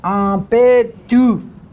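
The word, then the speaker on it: aŋpétu: Ampetu. Yeah, it's a hard P. Pe. Pe. Pe. And this is a nasal N. Ampetu.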